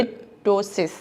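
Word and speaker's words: ptosis: कहते हैं ठीक है लिसिस यस ये पी टी ओ एस आई एस होता है बट पी साइलेंट होता है पता नहीं अंग्रेजों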